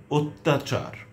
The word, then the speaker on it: অত্যাচার: যেমন অদ্য, অন্য, অত্যন্ত, অত্যাচার, কন্যা, কল্যাণ। এটি কল্যাণও উচ্চারণ হয়।